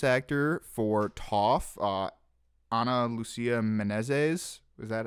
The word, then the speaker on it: Menezes: Unfortunately, the Brazilian voice actor for Toph, Ana Lucia Menezes, is that how you pronounce it? Menezes, yes.